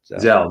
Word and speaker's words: Zelle: Is that how that's pronounced? Zelle, that's right. Thank you. Zelle is another one.